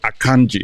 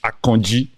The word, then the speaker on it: Akanji: I said, you're joining this, what's the word, Western Europeans, the way they pronounce Akonji. It's not Akanji, it's Akonji.